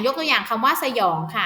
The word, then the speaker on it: สยอง: ค่ะ นี่ นะ คะ สยอง อ่าน ออก เสียง เป็น สอง พยางค์ นะ คะ อ่ะ สระ อะ สระ อะ หอ ยอ อย แบบ นี้ นะ คะ เพราะ คำ ที่ สอง เนี่ย มัน จะ มี หอ นำ ยอ อยู่ นะ คะ จึง